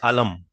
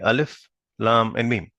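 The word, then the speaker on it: الم: not read this as alam we'll read this as separate chopped separately alif lam and me will not read this as alam because these are supposed to be read pronounced separately right so right in the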